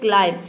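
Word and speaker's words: climb: मतलब होता है चढ़ना यहां पे देखिए क्लाइम नहीं इसको प्रोनाउंस करते हैं बी को साइलेंट रखते हैं ये होता है क्लाइम क्लाइम मतलब चढ़ना जैसे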